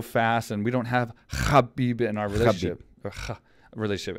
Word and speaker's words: Khabib: and we'll say Habib you literally got a clear throat what you say his name because Habibi is not in our language so you come fast you have to hold up for like I think an eighth of a second I'll be proper way